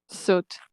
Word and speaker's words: soot: Soot. No, yeah, soot. A short O sound.